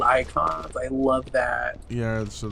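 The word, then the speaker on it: Eikon: game are called they're called icons but spelled with an e oh you know what wait it's always I wait it's e-i-k-o-n-s so they're called icons they're five yeah yeah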